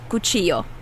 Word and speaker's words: cuchillo: um different sounds that that double l is kind of flexible in pronunciation they say it differently in different parts of the world but in the united states um the predominant latin american country uh representation is from mexico so um so i'm going to pronounce it like that kuchiyo okay ready for practice